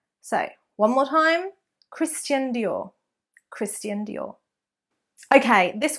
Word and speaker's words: Christian: So it is not Christian Dior, so a chun there, Christian Dior, but it's Christian Dior, Christian Dior, so a st rather than a ch. So one more time, Christian Dior, Christian Dior.